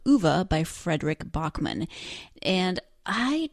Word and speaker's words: Ove: Ove is how the narrator of the book, the audiobook, pronounces it, and it's also how the actors in the Swedish language film pronounce it. Ove. O-V-E. So I'm going to go with Ove.